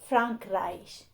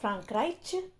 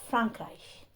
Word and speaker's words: Frankreich: Here, CH is pronounced as sh, Frankreich. So it's not Frankreich, but Frankreich.